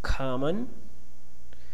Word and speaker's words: common: Common, if you put the stress syllable on the second one.